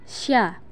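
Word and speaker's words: ش: Berikutnya, bagaimana kita melafalkan huruf sya. Huruf sya keluar dengan menyentuhkan tengah lidah dengan langit-langit. Diucapkan mengalir udaranya dan mengalir pula nafasnya. Bahkan ketika melafalkannya, menyebar nafas dan udaranya yang disebut dengan tafashi.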